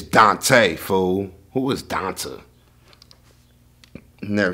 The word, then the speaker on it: Dante: at 30 at least if you see a black person and the name that's spelled d a-n-t-e how you not know that's dante bro how you not know